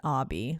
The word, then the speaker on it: Obi: name he does look like spelled Obie Obie yeah right that's why I was like Obie but it's Obby but he pronounced it Obby maybe because of miseducation